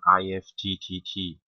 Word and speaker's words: IFTTT: tutorial will be on ift so IFD uh pronunciation if as in gift is like uh it